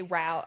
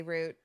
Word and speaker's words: route: So I will always say route. I never say root.